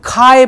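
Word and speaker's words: χ: Greek letter ज्याच pronunciation याच pronunciation केलं जात रे चाय चाय चहा नाही चाय सी एच आय काही जण त्याला ची पण म्हणतात काही जण खाय पण म्हणतात ठीक आहे ना सी एच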